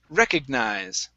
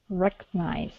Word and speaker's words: recognize: The stress is at the very beginning of the word. Recognize. Recognize.